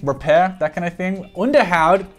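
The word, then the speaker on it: Onderhoud: that kind of thing underhoud which is how it's pronounced is uh touted lately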